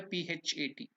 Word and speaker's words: phat: So here we have to use this Mahaprana, Pa. That's why PHAT. We have given that. In Sanskrit or in that Hindi word we can easily understand, but in English we can only explain to that extent. So it is Phat. So PHAT, Phat. That is how it has to be pronounced.